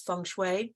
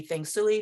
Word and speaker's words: Feng Shui: I say Feng Shui because the Mandarin pronunciation is Feng Shui, but it can be Feng Shui, Feng Shui, Feng Shui, so many dialects, so many different possibilities.